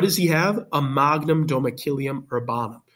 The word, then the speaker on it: domicilium: to read the story you can hear it in the uh the pronunciation right Magnum domakilium that makes more sense